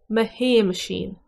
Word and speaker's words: Shéamaisín: On wok-a Hay-mush-een.